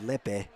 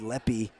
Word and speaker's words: Lepe: time she came up I said Lepe feel like that's how I would say her name but I was instructed leppy is the correct way to pronounce that so if you're watching